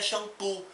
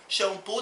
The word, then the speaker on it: xampu: nossa própria é inscrita a mesma coisa xampu xampu tem a mesma pronúncia do que a palavra original inglesa mas a escrita é